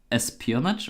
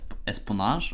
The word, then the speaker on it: espionage: Espionage or something like this, which is supposed to be pronounced espionage or something like this.